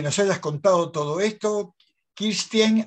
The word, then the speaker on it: Kirsten: Kirsten, así se pronuncia tu apellido, tu nombre, Kirsten de los Santos.